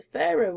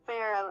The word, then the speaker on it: Faroe: It's all different, but pronounced the same.